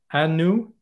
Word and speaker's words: Anu: she should forgive me Anu and she founded Africa agility yeah that's Anu I think yeah yeah you're right that is you pronounced it correctly but indeed I hope